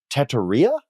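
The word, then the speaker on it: Tetairoa: You pronounce this Teteria?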